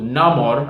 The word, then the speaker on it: Namor: there are Invaders and so we're introduced to Namor as the movie uh pronounces it and played by Dino chuerta who